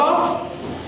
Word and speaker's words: off: When we say, when it is double off, we say off. We pronounce fast sound.